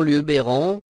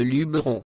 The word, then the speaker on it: Luberon: formes Luberon ou Lubéron l'orthographe et la prononciation Lubéron sont toutefois à éviter au profit de Luberon selon Charles rostin le